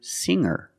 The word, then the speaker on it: singer: When I change these words with ER, I don't pronounce the G sound. It's just the nasal M linked together with the R. Together, hanger, mer, hanger. There's no G sound.